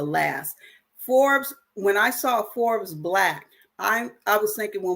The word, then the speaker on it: Forbes BLK: think about join is Forbes black so Forbes like the magazine Forbes black but it's spelled Forbes BLK they're offering membership right